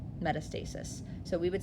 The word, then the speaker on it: metastasis: Metastasis.